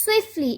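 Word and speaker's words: swiftly: क्या है हमारे पास स्विफ्टली इसमें जो टी है वो हमारे पास साइलेंट है आते हाय स्पीड या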